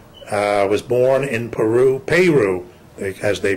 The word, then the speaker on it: Peru: time um Porter uh was born in Peru Peru as they pronounce it Peru Indiana um and was an